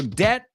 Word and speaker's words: debt: here like always so debt I I'll do it for you debt rhymes with get absolutely com rhymes with